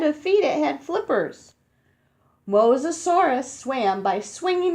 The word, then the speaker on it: Mosasaurus: bones in them you say it like this Mosasaurus Mosasaurus I can do this one I think